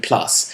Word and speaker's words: plus: it's called spf 15 plus except the 15s in roman numerals and the plus is in french so when it's written down it's actually pronounced plu in case you couldn't